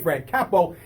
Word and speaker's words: Fran Capo: I said it right, Fran Capo.